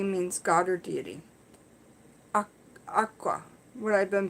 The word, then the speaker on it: akua: A-K-U-A means God or deity. Aqua. What I've been pronouncing aqua.